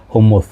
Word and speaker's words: hummus: Oh, I sound a little bit like, yeah, it's supposed, people supposed to say it like hummus, you know, so it's not hummus, okay, it's not hamas.